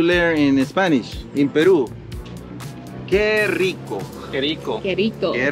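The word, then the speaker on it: ¡Qué rico!: Que rico.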